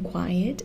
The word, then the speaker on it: quiet: The stress in quiet is on the final syllable, quiet.